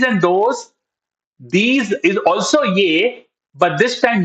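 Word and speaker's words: ये: The Hindi word for this is yay. Okay. Yay. Now this is spelled as y her.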